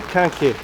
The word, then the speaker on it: Quinquet: haven't memorized yet how do you say it here axel can say it to the microphone because he is french kanke there you go